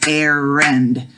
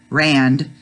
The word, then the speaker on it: errand: So if we said errand, that would be the two syllables. That's why the hyphen is after the first R. So it's not rand, errand.